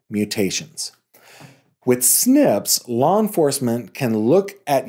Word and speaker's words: SNPs: It looks for something completely different in the DNA called single nucleotide polymorphisms, or SNPs, and then that is pronounced SNPs.